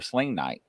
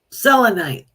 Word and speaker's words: selenite: seling Tite is helpful or slite is that how you say it selenite selenite listen to me he's